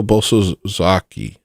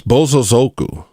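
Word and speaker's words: Bosozoku: Papa Shango Boso Zaki. I don't think you'll ever spell that correctly. It's bozo zoku.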